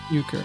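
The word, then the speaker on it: Uecker: eer how do you say his name uker uker okay uker just a bit outside yeah cuz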